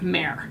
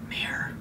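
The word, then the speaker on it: Mehr: When you think mare, you think like horse, right? This is spelled M-E-H-R, so I don't actually know what that is, but I knew how it was spelled.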